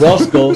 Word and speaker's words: Orozco: Say it right, man. You got to say it in Spanish. Orozco.